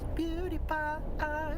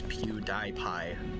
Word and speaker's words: PewDiePie: Channel, I thought the proper way to say it was PewDiePie.